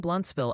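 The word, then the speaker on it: Blountsville: If you're talking Bluntsville, Alabama, it's blunt, pronounced like blunt.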